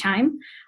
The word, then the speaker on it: QIIME: It's pronounced QIIME.